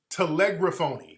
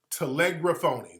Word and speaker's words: telegraphone: this is the pronunciation telegraphy telegraphoni right telegram telegraphone that's how it's pronounced telegraphone that's why i was having a little trouble